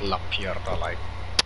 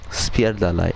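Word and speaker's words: spierdalaj: You said it wrong. How? Not la pierda lai. Spierda lai.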